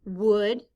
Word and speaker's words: would: In this word, the letters O-U stand for the sound The letter L is silent.